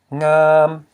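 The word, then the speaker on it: ງາມ: Ngam, okay, ngam, which means pretty. We have the low consonant plus a live syllable which equals a high tone.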